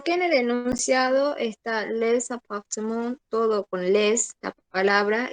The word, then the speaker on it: les appartements: Solamente cambiándole el valor fónico, pero no significa que no se pronunciaba. Les appartements. Les appartements.